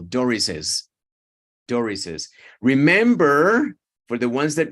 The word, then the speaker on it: Doris's: You know, when you have those apostrophes, S's after S's, then you need to add an extra syllable. Doris's.